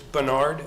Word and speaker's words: Bernard: Bernard? It's Bernard, is that Yes, pronounced?